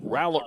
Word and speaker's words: Rowlett: lead the team so Rowlett ready I guess they pronounce it rowlet instead of roll it and the first pitch